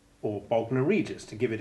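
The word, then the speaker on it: Bognor: lignite pugnacious pugnacity magnanimous magnificent magnet and there's bogner or bogna regis to give it its royal title a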